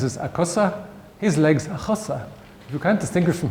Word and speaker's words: a chosa: A cosa, a chosa. Her legs is a cosa, his legs a chosa.